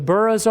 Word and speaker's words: burgh: In the lowlands, as I mentioned there, that's where the Buras are. Um if you see that in Scotland, it's Bur uh is how you pronounce it.